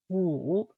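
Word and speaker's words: 五: Woo.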